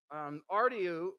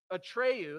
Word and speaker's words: Atreyu: and then there's ardeon um artyu or ar i'm sorry atreyu that's how they say his name atreyu in the film he's